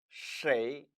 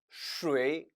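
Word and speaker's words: 谁: 있다 라고 표현하는 겁니다 하지만 역시 표준 발음은 쉐이 이니까 여러분들은 cla 로 습관을 들으시길 바래요 하지만 중국인들이 스웨이 라고 발음 하더라도 역시 알아들을 수 있어야겠죠 따라서 2 발음은 사실상 타 알아두셔야 합니다 m 온 것이죠 치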